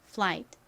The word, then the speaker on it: flight: 그 수업도 시청해 주세요 자 이렇게는 앞에 아가 오거나 뒤에 t 오는 경우 보통 묵음으로 쓰입니다 그래서 자 여기서 소리가 나지 않아요 끝에 티는 티 소리 트 소리가 나죠 워낙에 이렇게 티가 끝에 오면 약하게 발음이 나다 보니 ight flight 이렇게 거의 바침 소리가 들리기도 합니다 그래서 flight이라고 표기를 하는 경우도 있어요 자 한번 따라해 보세요 flight flight 좋습니다 이플의 의미가 뭘까요은 비행